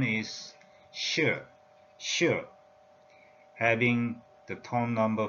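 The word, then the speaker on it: 士: The pronunciation is shi in Mandarin.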